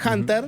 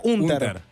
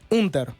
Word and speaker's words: Hunter: realidad el diputado eh le gusta castellanizar el apellido, por lo cual yo yo lo pronuncié en inglés Hunter, pero en realidad lo pronuncia. Hunter. Hunter.